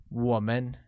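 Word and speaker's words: 我们: and see the break-up us translates to woman pronounced with a falling rising tone on oh let's take a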